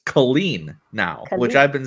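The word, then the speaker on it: Caleen: because the whole time I thought her bix's name was pronounced Bix kaleen but it's Colleen now which I've been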